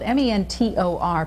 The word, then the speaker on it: Mentor: It is spelled M-E-N-T-O-R, pronounced locally without the T, Mentor, Ohio.